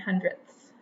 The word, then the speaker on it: hundredths: it's so important to make sure we are pronouncing it correctly on tenths and hundredths that ths at the end and one more I